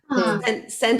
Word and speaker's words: scent: Scent of a Woman. Yeah, so scent. But it's pronounced the same. Aunque ves la SC, it's just like scent, same pronunciation, okay?